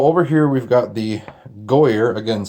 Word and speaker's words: Goaycer: I'm going to go ahead and ignore the C because Goaycer is easy to say and it sounds fine to me. So over here we've got the Goaycer, again spelled Goaycer.